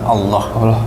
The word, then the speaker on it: Allah: Kita kita luruskan sedikit pronunciation-nya ya. Jadi memang di dalam bahasa Arab dan dalam Islam kita menyebut Tuhan kita, Rabb kita dengan sebutan Allah. Ya. Sesungguhnya agama di sisi Allah hanyalah Islam.